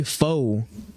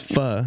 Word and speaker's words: pho: it on me yeah bro don't say foe but that's not how you pronounce it I mean it's fur hey if if you